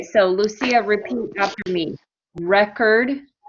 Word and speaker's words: record: lucia repeat after me record record and record record good so record is the noun record is the verb okay so one i